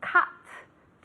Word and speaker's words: cut: To cut. To cut. Como si fuera realmente con una A más que una U.